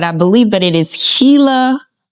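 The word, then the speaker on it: Gila: community wrong, but I believe that it is Hila Hila River Community.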